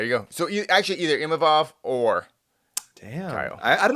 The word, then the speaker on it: Imavov: that Imanov won't fight him. Imavov. Yep. Imavov, sorry, won't fight him. And Okay. there you go. So actually, either Imavov or Damn.